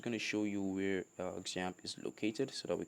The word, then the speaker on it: XAMPP: there's a better way example though technically it's my number pronoun jam it's actually x-a-m-p-p but i like to pronounce it example examp actually is a